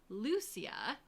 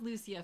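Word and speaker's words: Lucía: the names are funky Lucia or there's other ways you can pronounce the name but we're going with Lucia for this show um and her Evolution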